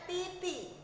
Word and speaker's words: di: D dibaca T dalam bahasa Mandarin. Semisal kamu lihat DI, jadi bacanya titi.